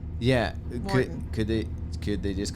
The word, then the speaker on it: Maurten: Morton.